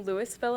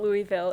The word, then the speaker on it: Louisville: All right, so I'm from Louisville, Ohio. He actually asked me just before this how to pronounce it. It's not Louisville, it is Louisville, Ohio.